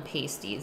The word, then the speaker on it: pasty: we will finish up we always called them pasties with a short a like apple pasties ah when I've been